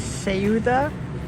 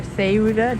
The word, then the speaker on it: Ceuta: That's Ceuta, or Ceuta, depending on how you pronounce it, the Spanish enclave at the tip of Morocco.